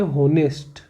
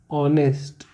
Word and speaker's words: honest: जैसे मैंने बोला HONEST, तो इसको बहुत से लोग पढ़ते हैं होनेस्ट। क्या पढ़ते हैं, होनेस्ट, जो गलत है। इसका सही प्रोनाउंसिएशन होता है ऑनेस्ट।